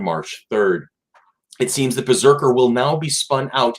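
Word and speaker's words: BRZRKR: Keanu Reeves' Berserker, which is spelled B-R-Z-R-K-R.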